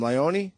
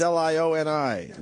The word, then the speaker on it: Leone: How do you say your name? Leone? Leone. Leone, but all right, it's Lioni.